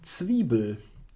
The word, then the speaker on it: Zwiebel: How do you properly pronounce Zwiebel? Yeah, Zwiebel.